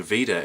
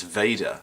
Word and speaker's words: VEDA: i think i've been pronouncing veda incorrectly every person i've heard talk about vlogging every day in april says vader although maybe that's an american thing who knows so yesterday